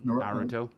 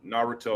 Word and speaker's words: Naruto: Every every syllable is supposed to have an equal accent. Um but the letter U and the letter I generally don't get a strong accent. So Naruto is probably the most